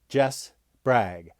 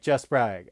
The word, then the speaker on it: Jess Bragg: omni and you'll notice i say my name jess bragg because if you say it too fast on air it sounds like just brag and people go what